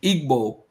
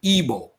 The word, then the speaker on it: Igbo: way to we're saying Igbo it's actually ebo we're actually mispronouncing the word it's actually okay the G is actually silent no I'm not I'm